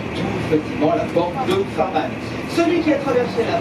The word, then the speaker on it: Henri Farman: Alors, Henri Farman, d'ailleurs, j'ai vérifié, si tu veux, il se prononce bien Farman, puisque même s'il est français, il est né 2 parents anglais, et donc il s'appelle effectivement Monsieur Farman.